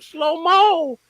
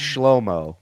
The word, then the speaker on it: Shlomo: I'm Slow Mo. Welcome. It's pronounced Shlomo, but okay, Slow Mo.